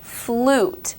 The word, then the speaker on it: flute: and then you have the word flute it almost comes off sounding like there's a double O similar to boot the